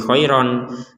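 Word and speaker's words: خَيْرًا: Kita barusan tidak membaca khairon, tapi kita membacanya khairo. Nah, panjangnya dibaca panjang 2 harokat, ro-nya dibaca panjang 2 harokat. Kenapa kita panjangkan 2 harokat? Karena kita berhenti.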